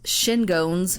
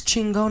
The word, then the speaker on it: Chingones: Yeah, not Los Shingones, or however apparently people pronounce it, but Los Chingones Los Chingones. is how it's pronounced.